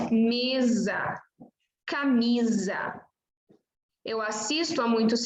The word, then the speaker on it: mesa: Aqui você tem S entre vogais, então você diz mesa, camisa.